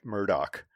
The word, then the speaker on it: Murdaugh: name, and it's spelled, unequivocally spelled Alex Murdaugh, and they pronounce his name Alec Murdoch, and it drives me fucking crazy. And I want to scream every time somebody says Alec Murdoch.